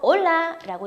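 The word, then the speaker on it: hola: 바로 올라라고 인사를 하는데요.이 인사법은 하이헬와 동일한 인사법이고요. H는 무음입니다. 그래서 발음하지 마시고요.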